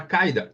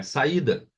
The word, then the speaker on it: saída: houvesse o acento entenderam ele vai pronunciar a palavra caida aí olha só o trabalho que dará para o nativo né para o falante não não não é a saída não é a saída é saída ele ah Paiva Ok